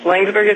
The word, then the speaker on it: Laingsburg: an optometrist from uh linksburg michigan did i pronounce that right talk to brandon yes langsberg is correct okay where in in